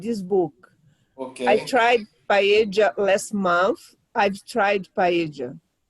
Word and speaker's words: paella: But in English, they say paella. But no. Yeah. You know, it's the American way of pronouncing paella, okay? But in Espanhol is paella.